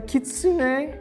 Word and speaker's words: kitsune: I did not know that Kira is a kitsune. Yeah, why are you so unsure? She is definitely a I just want to kitsune. make sure I just want to make sure I pronounced it correctly.